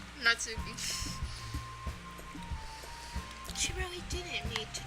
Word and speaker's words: Natsuki: Natsuki.